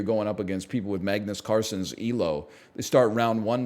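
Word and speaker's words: Carlsen: you know I it's it's a soft L he that's how he pronounces it in the original Norwegian it's more like Magnus Carson I turned it I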